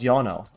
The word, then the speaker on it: Ionel: Oh, his name is actually pronounced Yono.